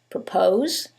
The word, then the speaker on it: propose: However, in the first one, it's the second syllable that's stressed, and in the second one, it's the first syllable, and that changes the pronunciation completely. The first word is propose, and the second word is purpose.